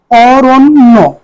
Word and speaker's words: অরণ্য: উচ্চারণ কিভাবে বলি করি অরণ্য অ দেখ অরণ্য এখানে জ ফালা যুক্ত বলের কারণে র টা ওকার হয়েছে অরণ্য উচ্চারণ হবে অরণ্য আর জ ফালার কারণে